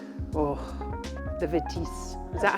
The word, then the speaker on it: Vitesse: Oh, the Vitesse. Is that how you say it? Vitesse.